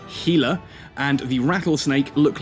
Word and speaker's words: Gila: why the worm the gila yes it is pronounced gila and the rattlesnake look like kaldari ships namely